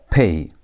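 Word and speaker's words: פ: But when pay has no dagesh, the sound changes. Instead of saying P, instead of pronouncing it as P, you pronounce it as F. As F.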